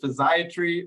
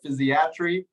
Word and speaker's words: physiatry: asked questions is it physiatry or physiatry I don't know if you've heard the second one before but you'll hear you'll hear it um both are acceptable okay I believe the very first pronunciation did put the emphasis on the third syllable so physiatry or uh